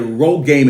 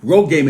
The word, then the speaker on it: RhoGAM: doctor has to give her something called a Rogame injection. That's spelled RHOGAM, Rogame injection, to prevent her body from trying to naturally abort it.